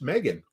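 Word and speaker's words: M3GAN: Finally, we went to the movies the other night, and we went and watched Megan.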